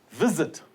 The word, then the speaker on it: visit: Visit. Now the stress is on the first syllable.